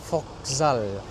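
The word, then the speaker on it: Вокзал: Jadi itu bacanya Vokzal.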